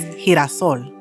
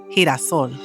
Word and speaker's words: girasol: And sunflower in Spanish is girasol, girasol, because I comes after the G.